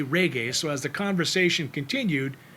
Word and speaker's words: reggae: She couldn't grasp how to say reggae, so as the conversation continued, she called it rigu and raga. Finally, to make it easy for her, I told her it's pronounced ragu, just like the spaghetti sauce.